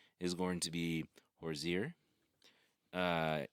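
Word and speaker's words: Horzire: is going to be horir uh like the singer Hosier it's it's spelled h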